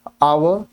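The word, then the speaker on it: hour: and dash for dash आवर half lunch ध्यान से देखिएगा सबसे पहले आवर आवर का एच साइलेंट है और वावल साउंड है आई हैव एन आवर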